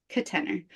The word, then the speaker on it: Katenor: new to this so it's my name Kate and the word tenor and then that's just but I'm sort of pronouncing it with a schah in the first syllable kener ker I've been calling